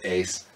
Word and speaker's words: Uys: $9.99 so my last name is spelled pronounced ace it's a thing you